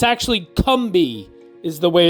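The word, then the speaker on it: Combahee: name and that river is the Cumby River it's spelled c-o-m-b-a-h-e-e so it looks like kambahi or kambahay but it's actually cumbi is the way it's pronounced interesting uh the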